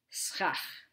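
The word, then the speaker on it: סכך: It's pronounced schach.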